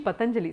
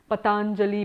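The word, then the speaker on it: Patañjali: So just one small note on that, there are many people who pronounce his name as Patanjali, Patanjali. There are a whole lot of permutations and combinations because it's hard to know the exact length of the vowel in his name.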